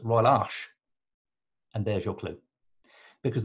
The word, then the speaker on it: Arche: Royal Arch is spelled with an extra E and it's pronounced Royal Arch.